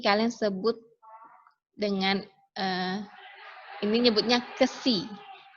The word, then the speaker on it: xi: sebut dengan, ini nyebutnya KSI. Tulisannya XI, bacanya KSI.